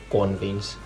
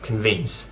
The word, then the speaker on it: convince: So, and another thing about today is that in Finnish you always stress the first syllable, so you would say today, and so that really can make it difficult to understand if you say like convince instead of convince.